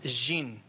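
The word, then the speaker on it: jinn: the gene okay you the Arabic pronunciation is gene and its guess what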